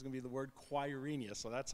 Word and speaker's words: Quirinius: The word is Quirinius. You're going to come on to the second slide, and there's going to be the word Quirinius, so that's how you pronounce that.